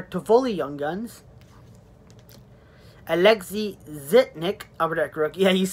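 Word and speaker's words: Zhitnik: guns tell her to fully young guns Alexei zitnick over that crook yeah used to pronounce it Nick pack is a kid well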